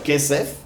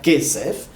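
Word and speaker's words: כסף: Par exemple, si je prends le mot kesef, vous entendez qu'il y a 3 syllabes, il y a 2 syllabes, kesef. Et l'accent est amené sur l'avant-dernière, donc sur le quai.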